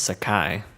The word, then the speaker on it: Sakai: your family i swear that's how you spell his name but it's pronounced sakai with the laughing bandits